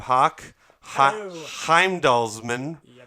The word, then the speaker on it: Hauk Heimdallsman: yeah no so we've begun so we have hawk Heimdall's Minh right as a house that's how you pronounce it is that your is that your